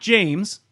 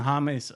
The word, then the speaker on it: James: I know it's not I know it's not James but it looks like James but hommies Rodriguez so tell us